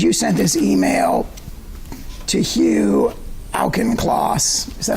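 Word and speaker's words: Hugh Auchincloss: of this page you sent this email to Hugh alkenclaws is that how you say his name that's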